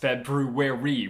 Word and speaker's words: February: the month of february february that's how it should be pronounced february why do we skip the r i will never understand